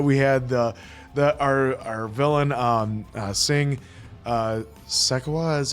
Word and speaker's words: Shekhawat: We love the fact that we had our villain, Singh Shekhawat is how you say his last name.